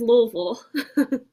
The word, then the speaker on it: Louisville: How do you pronounce L O UI V I L E? It's Louisville.